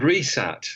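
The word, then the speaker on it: WRESAT: and so it was called resat spelled with a silent w at the beginning w s a t which is the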